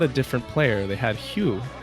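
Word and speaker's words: Hue: They had Hugh H u UE I think is how you pronounce it.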